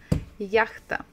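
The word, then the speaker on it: яхта: English H ah yeah so stress first the first syllable yeah it is a yacht yacht yakta okay so I hope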